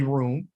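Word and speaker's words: רום: i'm gonna push on looks like rum but it's really room um room means this and they got a phonetic spelling with the r-o-o-m that's how it's spelled kinetically and spoken okay so it means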